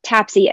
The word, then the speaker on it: TAPSE: annular pulmonic systolic exertion or tapsy as it is more commonly and much more easily to pronounce called and what tapsc does